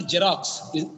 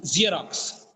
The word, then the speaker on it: Xerox: it's giggle it's not jerox Xerox it's Xerox it's not jerox xox xox the first sound is z z th the letter